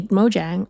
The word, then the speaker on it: Mojang: they pronounce it with J not oh really Mojang okay pronounced like a Singaporean I I don't know